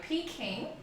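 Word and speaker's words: Peking: actually I'll tell you pe King is the Cantonese pronunciation of Beijing so Beijing that's where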